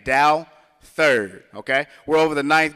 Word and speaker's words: Douthert: It's pronounced D-O-W, first, second, third. So that's how you say the name, Douthert, okay?